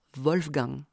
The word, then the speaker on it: Wolfgang: Au niveau du vélum, l'occlusion nasalisée produit le ng de l'allemand Wolfgang. Comme les Français n'utilisent pas ce phonème, ils le prononcent en reportant la nasalité sur la voyelle précédente. Le A devient an et le ng, l'occlusive sonore buccale g, Wolfgang.